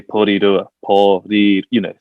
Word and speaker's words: Porirua: So we didn't want to, tell people, like, this is how you say Porirua, Like Yeah.